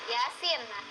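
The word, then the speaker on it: يس: tiap malam Jumat ya ada dua huruf nih dua Hurufnya yang pertama ada ya ynya itu ini dibacanya e ada pemanjangnya di atas ini cuman dua harakat nah yang yang Sin tidak dibaca sa tidak yaas kan Yasin yang sinnya itu Sin E ini kita baca en tuh di atasnya ada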